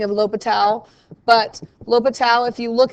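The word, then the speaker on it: L'Hôpital: the modern spelling of lo Patel but l'hopital if you look him up this is how he spelled his name with this silent s lo Patel so it looks like Elle hospital I like to write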